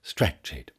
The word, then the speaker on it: stretched: Stretched here has two syllables. Stretched.